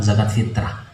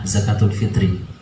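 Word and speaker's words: zakat fitri: zakat oleh Fitri Hai atau biasa disebut dengan zakat fitrah namun pelafalan yang betul adalah zakat fithri motor-motor Kinet itu adalah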